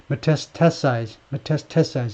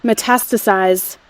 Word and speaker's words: metastasize: 발음이 맞긴 맞는데, 액센트 위치가 metastasize.